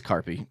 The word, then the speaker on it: Carpy: But it was name it was Carpy. Rhymes with Harpy. Carpy.